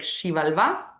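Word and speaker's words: Xibalba: And the topic of today is the topic of Shivalva. And I'm gonna actually type that in the chat because it's a difficult word. Shivalva. So you pronounce it like Shivalva.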